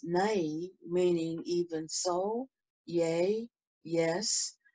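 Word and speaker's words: ναί: it is g3483 it is spelled v-a-i and pronounced nay meaning even so yay yes truth verily surely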